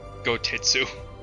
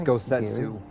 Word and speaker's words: Gosetsu: Am I going senile, or did Daniel pronounce it like Gotitsu? I heard Gotetsu. I said Gotetsu, but I might have slurred it a little bit. It's Gosetsu. Gosetsu.